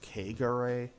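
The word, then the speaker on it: Kegare: Okay, I know the game tells you it's pronounced Kagare, but Kagare just sense to me.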